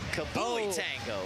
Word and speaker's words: Kablooey Tango: By the way, Kablooey Tango, it says in the name pronunciation, it says, say it with emphasis and explosive energy. Ready? Kablooey Tango.